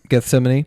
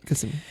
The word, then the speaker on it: Gethsemane: Gethsemane. Gethsemane.